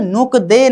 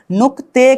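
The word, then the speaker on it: 늑대: लेकिन नीचे के तरफ ग आ गया, साइड की तरफ द आ गया, तो ग का उच्चारण नीचे आ जाने पर क करेंगे, द का उच्चारण साइड में जाकर रिप्लेस करके त करेंगे। मतलब अब नुक दे नहीं करके हमें क्या करना होगा? नुकते करना होगा।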